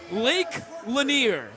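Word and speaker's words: Lake Lanier: buzzword drum roll please Lake laner lake laner is that how you pronounce it yeah you you are spot on man that's fantastic work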